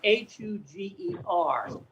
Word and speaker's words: Huger: When I lived in South Carolina in Columbia, there was a street that was spelled Huger, and it was pronounced Hug.